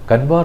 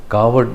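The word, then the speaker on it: कांवड़: കാവടി യാത്ര എന്ന് എഴുതിയിരുന്നു കൻവാർ എന്ന് ഇംഗ്ലീഷിൽ എഴുതുമെങ്കിലും ഹിന്ദിയിൽ അതിനു പറയുന്ന പറയുന്നത് കാവട് യാത്ര എന്ന് തന്നെയാണ് ഇങ്ങനെ യാത്ര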